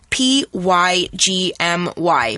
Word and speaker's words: pygmy: Now, you can see that pygmy is spelled kind of funny. It's spelled P-Y-G-M-Y, pygmy.